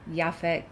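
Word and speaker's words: Yaphet: and it's hard to say his name but yafet y f Cotto I actually looked it up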